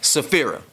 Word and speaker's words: Safira: can spell it but tell me how to pronounce it sapira sephirah okay that's what i thought it was yes okay i'll be